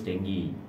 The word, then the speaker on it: dengue: Dengue fever. Bacanya dengue. Bacanya dengue ya.